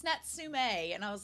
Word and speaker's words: Natsume: I was like oh I want to watch nsum so I'm glad also apologies I've been calling him natsumi this whole time because I'm from a ditch